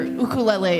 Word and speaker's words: ukulele: to pronounce Hawaiian word just pretend it's in Spanish it's the same vowel structure so that's why it's ukulele um the first time